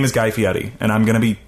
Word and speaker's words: Guy Fieri: We're going to have to buy Ed Hardy inspired knives with our own money because we mispronounced his name. His name is Guy Fieri, and I'm going to be keeping everybody honest about it.